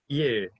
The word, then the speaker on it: 일: This is sort of an E sound 일. with an at the end of it. That is sort of halfway between an R and an L. Listen to Dr. Kerr say 일. 일. 일. 일. Yeah. 일. Good. Yeah. Good. The tip of your tongue will go to the roof of your mouth for that RL sound.